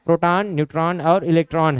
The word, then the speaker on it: प्रोटॉन: पोट्रॉन नहीं कहना है, और नहीं तो आप लोग ऐसे उच्चारण करते हो पोट्रॉन करके। क्लियर है? तो पोट्रॉन नहीं होगा, प्रोटॉन होगा।